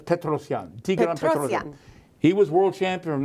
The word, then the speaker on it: Petrosian: good with names most most chess players pronounce his name is Petrosian but it's petrosion he was world champion